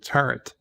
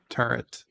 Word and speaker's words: turret: pointed out to me there's no n in the word turret turret so I then I